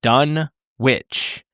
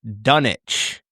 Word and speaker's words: Dunwich: Every person in the movie pronounces the town's name as Dunwitch. In fact, it is pronounced Dunich. I just learned that with a silent W.